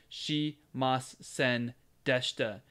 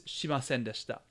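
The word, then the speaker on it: しませんでした: She mas sen deshta. She mas sen deshta. You sound kind of like a robot, but that's not really how it's pronounced. It's shimasen deshta.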